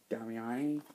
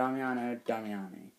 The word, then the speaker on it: Damiani: a really atmospheric it's directed by D Damiano damiani yeah that's how you pronounce it Doo damiani but uh great stuff starts Bert Young from